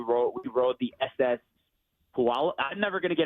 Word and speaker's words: Puyallup: It's a church pew. It's all of us, and we're going up. Pew all up. Oh, Puyallup. Puyallup. There you go. We rode the Puyallup.